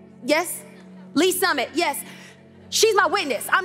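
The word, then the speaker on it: Lee's Summit: um is that i say it right yes lee summit yes she's my witness i'm not lying every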